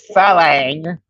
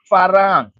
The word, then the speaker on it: farang: farang you don't say Fang you don't say Fang the proper way is farang so you can say